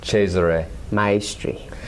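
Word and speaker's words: Cesare Maestri: what is it well the correct pronunciation as near I can do because I don't speak Italian is cheser cheser MYRY so you know he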